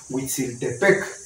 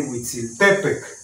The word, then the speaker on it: Huitzilopochtli: se acentúan aquí en la penúltima sílaba. O sea que de por sí decimos Huitzilopochtli, pero el acento está mal porque no se dice Huitzilopochtli. Se tendría que decir Huitzilopochtli.